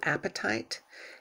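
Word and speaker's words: apatite: it stimulates and activates the throat chakra blue appetite a-p-a-t-i-t-e because i didn't pronounce what that spelling like that so that's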